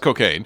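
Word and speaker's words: Cockaigne: chain but cocaine yeah it is pronounced cocaine but like I'm just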